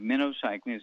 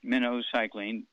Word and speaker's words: minocycline: eight week supply of minnow cycling is pronounced like the bait fish minnow cycling minnow okay and because